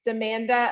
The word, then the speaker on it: Amanda: as a child and my name um also rhymes with it so when i was little my name was amanda amanda panda that was